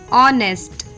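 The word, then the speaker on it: honest: सी के बाद और डब्लू के बाद भी साइलेंट होता है एग्जांपल्स देखिए ऑनेस्ट आर घोस्ट घोस्ट नहीं होता है घोस्ट कैरेक्टर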